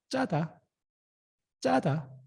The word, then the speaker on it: 짜다: Double consonant. You have to emphasize the pronunciation. 짜다.